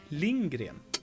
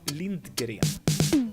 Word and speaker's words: Lindgren: I pronounce her name Lindgren so we have Astrid Lindgren not Linda Gary what's up party people